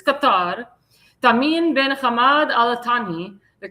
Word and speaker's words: Qatar: He he said, "I've been asked by the Amir of Qatar or Qatar. That's how you say it. Qatar, not Qatar. Qatar. That's how that's how the Arabs pronounce it. It's Qatar.